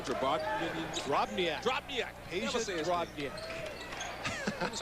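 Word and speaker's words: Drobnjak: Drobniak.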